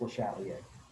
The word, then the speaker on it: Le Chatelier: that it's very french it looks like it should be pronounced the chandelier um in english but uh it's french so it is le chatelier and basically he said